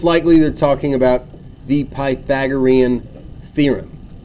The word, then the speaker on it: Pythagorean: it is spelled kind of like that it's pronounced Pythagorean theorem all right and the Pythagorean theorem states